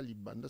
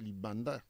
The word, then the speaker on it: Libanda: C'est l'intonation. Ce n'est pas Libanda, c'est Libanda. Libanda, en fait, c'est elle qui a mal prononcé.